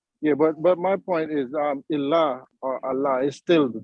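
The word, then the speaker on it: إله: Ilah is how you say God in Arabic.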